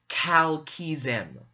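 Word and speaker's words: Kltpzyxm: And the way you pronounce it is Kal-Kizem.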